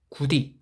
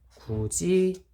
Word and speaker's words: 굳이: 때 나타나는 현상이 크롬 우리의 구디 이렇게 말하 많아요 아니죠 굳이 라고 발음을 하죠 후지 라고 발음합니다 즉 디그 시 지그시